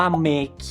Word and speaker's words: MEKI: ครับ รอง เท้า รุ่น นี้ อ่าน ว่า เมคิ นะ ครับ เป็น รอง เท้า ที่ ทาง ิง